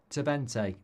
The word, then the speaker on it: Twente: It's pronounced Twente.